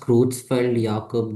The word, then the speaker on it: Creutzfeldt-Jakob: So it's pronounced Creutzfeldt-Jakob disease, CJD.